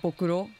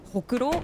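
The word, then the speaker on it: ほくろ: You said bokuro. Yeah, what does that mean? Bokuro doesn't really exist, but if you say hokuro, it means the beauty mark.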